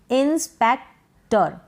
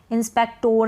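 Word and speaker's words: inspector: जैसे कि इंस्पेक्टर, इंस्पेक्टर, क्या है, इंस्पेक्टर। इंस्पेक्टोर नहीं पढ़ेंगे, इंस्पेक्टर।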